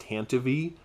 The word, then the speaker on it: Tantive: if it weren't for the tantive which somebody told me is actually pronounced tantivy and I'm like I'm